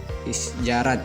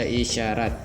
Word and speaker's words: isyarat: Yang kedua adalah ejaan SJ, yaitu contohnya adalah isjarat gitu kan. Kalau ini kalau sekarang kita baca adalah isjarat. Isjarat, karena ini belum disempurnakan seperti pada tahun 1987. Setelah disempurnakan, ejaan ini berubah, SJ itu berubah menjadi SY. Yang ini adalah isyarat, dibaca isyarat.